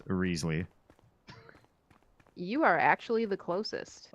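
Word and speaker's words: Wriothesley: the name is pronounced Riesly. You are actually the closest. Okay. Hey, cool. I'm sorry, what? Yeah. The name is officially pronounced Risley.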